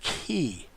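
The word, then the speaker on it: χῖ: shaped letter is a key he this is a CH or hard seeing sound as in like charisma this would be the key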